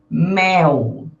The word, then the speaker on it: mel: Mel, mil, anil, fuzil. Lembrando que as palavras que terminam com L eu pronuncio como se fosse um U, né?